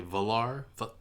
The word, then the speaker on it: Valar Morghulis: So I was slightly wrong about how to pronounce Valar Morghulis. I think I said Valar Morghulis, but it's actually Valar.